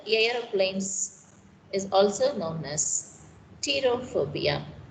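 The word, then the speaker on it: pterophobia: is also known as terror phobia p is silent to here then fear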